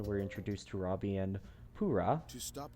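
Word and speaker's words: Purah: introduced to robbie and pura yes that is how her name is pronounced not pera or pera you're taking to another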